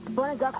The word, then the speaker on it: Pannukakkua: Pannukakkua was spelled with a P, but it sounds like it's a B, so it's kind of crazy.